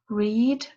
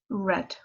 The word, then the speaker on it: read: spoke read read so notice that that those two words are spelled the same but we pronounce them differently so read present tense past turns red for fell drive drove